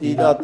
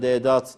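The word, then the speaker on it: Deedat: Ahmet Didat dediniz. Didat. Ben onu ya da Dedat doğru telaffuzuyla size eksi puan kazandırdı efendim.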